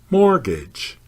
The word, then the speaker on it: mortgage: on the first syllable mortgage the tea is not pronounced at all pronounce the first syllable as more the second syllable rhymes with bridge say gauge not gauge